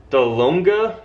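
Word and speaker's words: Dahlonega: watching from the first one is hard to pronounce I'm gonna say it's delonga delonga Georgia that's a tough one d-h-l-o-n-e-g-a Georgia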